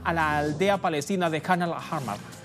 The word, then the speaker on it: Khan al-Ahmar: Los colonos israelíes del asentamiento ilegal de esta zona palestina inundaron la localidad de Khan al-Ahmar, la pronunciación, ahí está, Khan al-Ahmar, con agua de alcantarillado.